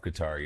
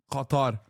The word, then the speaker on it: Qatar: Qatar. Qatar. Don't say it in Arabic. That's why I say Qatar.